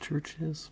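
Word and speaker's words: Chvrches: This next band that I'm going to be talking about, I'm pretty sure it's pronounced Churches, but there is a V where the U should be.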